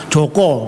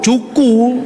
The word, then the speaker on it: Joko: seorang Arab suruh maksa-maksa Joko namanya. Mana bahasa Arab Joko? Tulisannya juga Juku loh bahasa Arab. Gitu? Ya huruf Zin, Wau, Kaf, Wau, Juku namanya. Namanya yang benar Joko bukan Juku, karep-karep mulah.